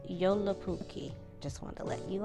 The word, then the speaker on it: Joulupukki: So the Finnish word for Santa Claus is pronounced Joulupukki.